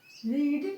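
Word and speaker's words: read: बी इन बी इन रीड क्योंकि रीड का third रूप रीड ही होता इसको हिंदी में रेड बोला जाता है लेकिन स्पेलिंग सेम ही रहता है।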